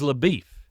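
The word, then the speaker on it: LaBoeuf: "My name's LaBeef," explaining that it's spelled like LaBeouf, but he's always been called LaBeef.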